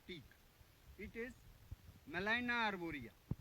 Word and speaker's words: Gmelina: It is Melina arborea. Melina में G is silent. GMELINA. Melina arborea.